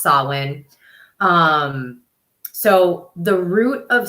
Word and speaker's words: Samhain: so Sinn yes I know it looks like Sam hyen it is not it is pronounced Sinn um so the root of swin is truly